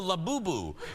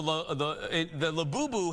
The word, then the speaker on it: Labubu: People are going crazy over the Thank you for the pronouncer, Jeff. It's called the Labubu.